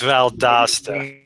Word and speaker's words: Valdosta: I'm in valasta okay it's valasta that's how they pronounce it around here I call Valdosta but you know yeah